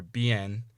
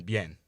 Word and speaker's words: bien: w or a y so instead of saying bueno or bien say bueno en bien also remember that the